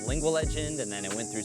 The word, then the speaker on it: Lingua Legend: So it is pronounced Lingua Legend, and lingua is a Latin kind of origin word that simply means tongue or language.